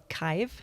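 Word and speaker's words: Kyhv: Peak it's now called kive Peak rhymes with chive remember we're working on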